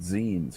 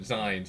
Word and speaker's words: zines: It's like e-zines, or I always pronounce it zines because like magazine.